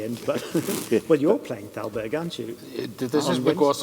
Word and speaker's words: Thalberg: At that time, he was just touring virtuoso, and it's very much possible that Thalberg, first pianist, how you pronounce this name? Well, in Germany, it's Thalberg.